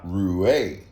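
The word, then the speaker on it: roué: voyu, a bit roguish, if not ru o u e with the accent on the e.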